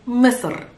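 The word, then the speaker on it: مصر: am really sorry but egypt in arabic is misur it's not it's so so so it's better better pronounced i know you can feel or hear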